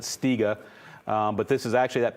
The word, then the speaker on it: Stiga: This is kind of a break area where we have it, and I hope I don't butcher, but I think you pronounce it Stiga.